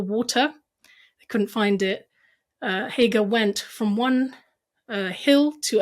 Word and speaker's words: Hagar: And what he brought his son Ishmael there with his mother Hagar. I think that's how you pronounce it in English. We call her Hajar.